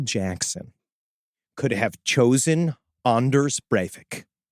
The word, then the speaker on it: Breivik: But imagine if there was just one magical afternoon where Michael Jackson could have chosen Anders Breivik. Right? That's how you actually pronounce it.